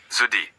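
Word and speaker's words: jeudi: Zudi. Notice that J sound. It's like the S in measure. Soft not a hard J.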